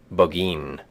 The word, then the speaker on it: Burgoyne: He pronounced it Boggeen, which my informant used to borrow.